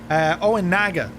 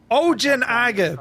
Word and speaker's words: Ojinaga: And across the road from it is a Mexican town called Oinaga.